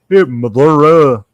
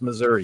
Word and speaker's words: Missouri: Half the state can't even pronounce the state right. So, Missouri. No, it's Missouri, you moron.